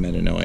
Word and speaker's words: metanoia: It's not even pronounced metanoia.